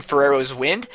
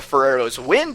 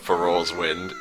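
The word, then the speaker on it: Farore's Wind: Now that is amazing, but what I think is even more amazing is your pronunciation of Ferrero's Wind. It's like you're saying Ferrero Rocher or something, the candy.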